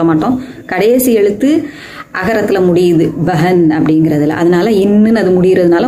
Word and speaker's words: बहन: அதுபடி நம்ம அப்படி உச்சரிக்கணும் பெ அப்படித்தான் சொல்லணும் பே சொல்லக்கூடாது பெஹன் பெஹன் அப்போ அந்த ஆக்சுவலா அந்த ரெண்டாவது எழுத்தை வந்து ஹ அப்படின்னு முழுசா நம்ம உச்சரிக்கணும் சரியா அப்போ பெஹன் ஷஹர்